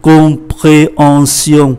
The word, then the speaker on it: compréhension: Une tension, une compréhension. Ở đấy chúng ta để ý hai chuyện. Ký tự M đứng trước P thì phát âm là N, S này câm.